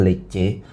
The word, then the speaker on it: Lecce: Jadi bacanya yang benar Lecce.